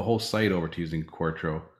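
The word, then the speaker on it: Quarto: site over to using quartro corto so i keep mispronouncing that forever but um corto right so it is yeah i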